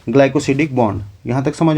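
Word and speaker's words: glycosidic: इसको हम बोलते हैं ग्लाइकोसिडिक बॉन्ड। क्या बोलते हैं? इसका स्पेलिंग बता देता हूं।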